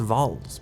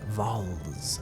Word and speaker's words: valse: Valse, pronounced Vols, with a soft S at the end. Vols. Think of false without the F sound.